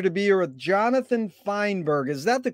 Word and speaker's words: Feinberg: It's an honor and a pleasure to be here with Jonathan Feinberg. Is that the correct way to pronunciate it?